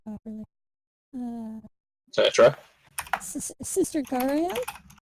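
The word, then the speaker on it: Garaele: Sister Gariel. Gariel. Like Ariel, but with a G.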